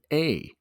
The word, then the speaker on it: lasagna: Lasagna. The G in lasagna is silent.